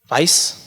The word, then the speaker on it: weiß: So, for example, weiß, white. In German, you do not pronounce W as W, pronounce it as V, but in English you pronounce it W.